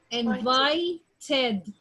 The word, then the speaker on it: invited: And the second one, invited, ed.